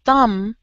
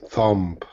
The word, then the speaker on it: thumb: Oh, don't forget thumb. The B is silent. The B, thumb. Thumb. No thumb. Just thumb. Thumb. Yes, the B is silent. We don't pronounce it.